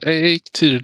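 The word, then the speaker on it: Eikthyr: Yeah, Eiktýr, just like that. Here. Okay, so almost. I mean, to me that almost sounds like egg tier, but with a better accent. Yeah, exactly. Eiktýr.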